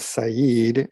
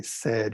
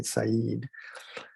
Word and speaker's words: Said: this author's name is i know it looks like the word said but is you will learn um edward syed is how you pronounce